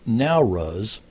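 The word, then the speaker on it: Nowruz: for the tradition of april fools the term now rus it's spelled n-o-w-r-u-z means literally new light and is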